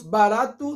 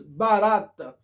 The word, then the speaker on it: barato: Nós temos barato, nós digamos barata. Isso aí não é, entendeu?